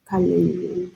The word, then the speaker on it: Kalenjin: Kalenjin. Pronounce.